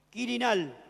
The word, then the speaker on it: Quirinal: Quirinal. Ahora se lo voy a pronunciar. Quirinal sería Q de queso. U I r i N a l.